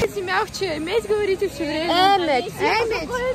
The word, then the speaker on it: Ӗмӗт: Эмедь, ударение Эмедь. А, простите меня. Чего запомни, здравствуй всегда, ударение на Эмедь, на первое. Эмедь. Если ударение ставить неправильно, получится плохое слово на чувашском.